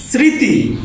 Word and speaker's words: স্মৃতি: আর ফার্স্টে স্মৃতি, ময়ের উচ্চারণ সাইলেন্ট।